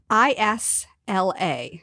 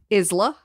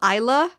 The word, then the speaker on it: Isla: I-S-L-A. How do stupid people pronounce it? Isla.